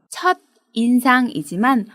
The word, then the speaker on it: 첫인상: 나쁘다 처럼 쓰기도 합니다 발음에 주의 하세요 첫 인상이지만 붙여서 말할 때는 첫인상이 라고 발음합니다 이상으로 각각 접두사 에